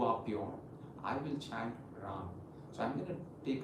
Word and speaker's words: Ram: The Bij Mantra chant is R-A-M. The pronunciation is Ram, but I would still want the R to be the longest because I want you